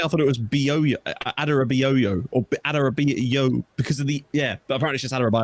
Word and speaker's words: Adarabioyo: Would you be able to give us a correct pronunciation as a Fulham fan? Adarabioyo. Tosin Adarabioyo.